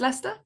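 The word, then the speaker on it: Leicester: a red leer ler red Lester yeah and it does not look the way that it's pronounced and I said something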